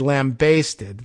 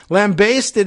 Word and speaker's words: lambasted: save face having said lambasted like you're basting a lamb that's baking in the oven lambasted is apparently the preferred